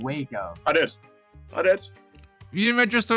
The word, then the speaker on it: Waco: Was it the Spahn Ranch, the Wacko Compound, Jonestown, or Harmony Farm?